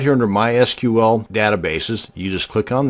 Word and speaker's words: MySQL: And yes, it's pronounced MySQL, not MySQL. So the next time you're